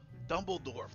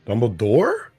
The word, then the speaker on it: Dumbledore: on Harry's dick Snape dumble dorf there we go Dumbledore is how you say it no F at the end please for some respect in